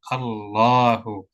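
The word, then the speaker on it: الله: datar enggak berdiri ya tapi cara bacanya pendek atau panjang tetap panjang khusus lafzul jalalah walaupun tandanya harakatnya datar seperti ini tetap dibaca panjang dua harakat Allahu nah ini yang paling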